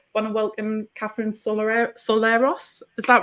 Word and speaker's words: Sorilos: So I want to welcome Kathrine Sorilos. Is that right? Is that how you say it, Kathrine? Sorilos. So it's actually it's Sorilos, exactly.